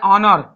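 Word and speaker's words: honour: फिर उसी तरह आ रहा है ऑनर, एच ओ यू आर, इसको पढ़ते हैं ऑनर।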